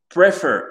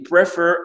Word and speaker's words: prefer: Prefer, tu as dit prefer, non, c'est prefer. Prefer, d'accord? Pour dire préférer, le e ici devient i, l'accent tonique sur le fer.